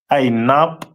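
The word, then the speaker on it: ענב: The symbol is pronounced as Ainab in the Hebrew.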